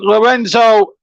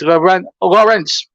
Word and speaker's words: Lorenzo: It's Paul James and JB Stuttard in the commentary box as our debutant Lorenzo Assignon wins the free kick. I think that's how you pronounce it. I think it's Lawrence Assignon, not Lorenzo.